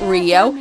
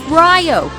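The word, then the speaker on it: Ryou: on my video saying it's not Rio it's Rio you know like rye bread my replies are basically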